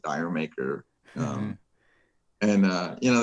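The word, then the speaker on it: D'yer Mak'er: would listen to like uh jamaica as or the americans say dyer maker um and uh you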